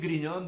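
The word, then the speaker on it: Grignion: decía san luís griñón pero pronunciarlo bien sanluis griñón de monfort este gran santo mariano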